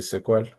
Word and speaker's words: SQL: have their own language relational databases use SQL or SQL usually the common pronunciation is SQL I don't know where that came from because this is just SQL three letters but it's usually uh the industry standard pronunciation is like this word like in a movie sequel for some reason that's what is a common pronunciation but you can just